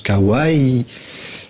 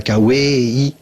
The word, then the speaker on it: kawaii: même pas compliqué kawaii kawaii ça se prononce kawaii c'est pas K-way salut les attaques